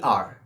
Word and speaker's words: er: German is er e r he in German is R she in German is